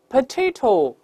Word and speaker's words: potato: 因为 potato 后面的 o 又发成元音弱化，读快之后 o 变成 a potatoes。